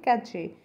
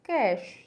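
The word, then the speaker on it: cache: Next word है सी ए सी एच ई, हम इसे नॉर्मली बोलते हैं कैचे, बट इट्स नॉट कैचे, इट्स कैश, इट्स कैश।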